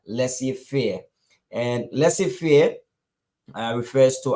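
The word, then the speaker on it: laissez-faire: for permission and our vocabulary word of today pronounced Es as Lessie fear Lessie fear and Lessie fear refers to an economic policy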